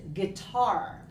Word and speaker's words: guitar: name for you because the way it is spelled might not make you say it correctly the word is guitar Okay so okay so